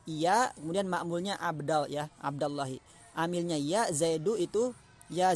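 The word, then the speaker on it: عبدَ اللهِ: Contoh di sini yaitu ya Abdallahi, tidak dibaca ya Abdullahi. Kalau ya Abdullahi salah.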